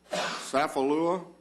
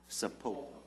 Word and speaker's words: Sapulpa: when Leota Azalea Gilbert was born in Sapalua, that's not right. How do you pronounce? Sapulpa. Yeah, Sapulpa. That sounds right.